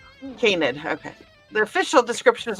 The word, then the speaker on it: canid: Canid. Canid.